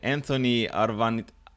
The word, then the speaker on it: Arvanitakis: And in this episode, I'm gonna interview the man behind an awesome website called Homemade Muscle, which is let me pronounce it correctly. Anthony Arvanitakis.